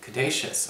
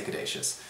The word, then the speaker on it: Caduceus: Well, for your spiritual advice, we do have the card of the Caduceus, or the Caduceus, however you want to pronounce it. I say Caduceus.